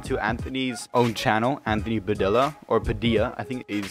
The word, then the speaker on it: Padilla: now moving on to Anthony's own channel Anthony padel or Padilla I think he's Spanish originally and his name is pronounced Anthony Padilla he said he wanted to have that same